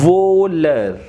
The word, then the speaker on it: voleur: Here VOL will gives VO sound, EU gives A sound, and R will be pronounced. So total it gives voler. VO is VO, L is L, EU is A, R is R.